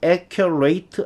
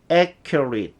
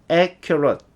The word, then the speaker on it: accurate: 동사일 때는 ate라고 발음이 되지만 동사가 아니고 형용사나 다른 품사일 때는 it 또는 it 요 정도로 발음이 돼요. 그래서 저 단어 accurate 이렇게 발음하지 않고요. accurate 또는 accurate 이렇게 발음이 됩니다.